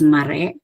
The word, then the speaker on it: mare: The word is mare, which means a run. We see here that re gets the primary stress, whereas the initial syllable ma gets the secondary stress.